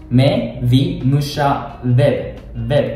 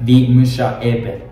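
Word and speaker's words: ვიმუშავებ: They don't pronounce like vi musha eb. You have to add v instead of a and e.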